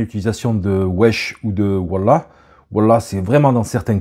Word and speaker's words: wallah: l'utilisation du mot wallah il y en a qui disent wou il y a plusieurs autres prononciations mais voilà en général on dit wallah ça signifie par Dieu